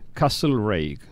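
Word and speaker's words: Castlereagh: es lord castro reik castle reik se escribe no importa como castell el área pero se dice a sí que es una figura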